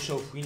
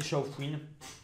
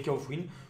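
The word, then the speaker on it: Shaofouine: Il y en a qui disent Chaofouine, pour moi c'est Chaofouine, hein, je le dis directement. Normalement c'est Chaofouine. Je comprends pas pourquoi on dirait pas, enfin pourquoi on dirait Kaofwin, mais bon, écoutez, chacun prononce comme il veut finalement, c'est pas très grave.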